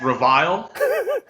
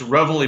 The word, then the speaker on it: Reveille: different ways sure it's a French restaurant it's reviled we're just kidding it's revelry barbecue company exactly it's named after that is